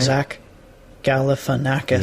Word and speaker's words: Galifianakis: of some commonly mispronounced words here he is pronouncing zack galifianakis for you zach galifianakis yeah all right zach galifianakis yeah okay i guess exactly all right i